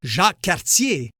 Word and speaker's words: Jacques Cartier: By the way, Jacques Cartier is pronounced Jacques Cartier in my neck of the woods.